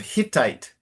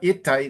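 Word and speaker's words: Hittite: Uh the first line you have to pronounce the H of Hitite. So it's not itite, it's Hitite.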